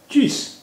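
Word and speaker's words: Tschüss: अब देखिए चीज में जो यू इस्तेमाल हुआ है इस पर दो बिंदु हैं, दो बिंदु हैं, सॉरी दो बिंदियां हैं। ये दो बिंदियां जब यू पर हों तो यहाँ पर यू का उच्चारण होता है ई ई ई, चीज चीज अलविदा या गुड बाय।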